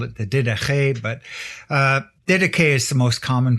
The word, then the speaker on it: Didache: pedantic and call it the did but uh deday is the most common pronunciation and it's the teaching of the Lord